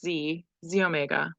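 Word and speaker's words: Xomega: you have your um Z Omega even though it has an X in front of it it's pronounced Z Omega I don't know why but maybe it's the Latin pronunciation I'm not sure but anyway this is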